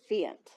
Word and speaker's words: Fiant: Today, Amelia is accompanied by her husband, Dan Carpenter, and her supervisor, Kate Fiant. Giant. Rhymes with giant.